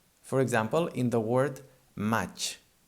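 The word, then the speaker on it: maig: And these two letters, the I and the G, they combine and they make the ch sound, like in chocolate, for example. Match. Match, by the way, means May, the month of the year.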